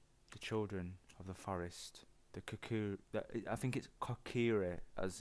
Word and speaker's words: Kokiri: Kokiri, as it's pronounced, live here with me.